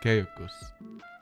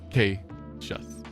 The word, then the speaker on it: Cassius: and I found out, that it's actually Latin, pronounced Caicus, which I guess would be the most correct, but I personally prefer. Thank you, Shiroma. Glad to see you're glad about that. No, I personally prefer Cassius.